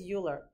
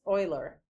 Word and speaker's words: Euler: Everybody, okay, so everybody says Euler, pet peeve, it's Euler. All right, that's how you say his name.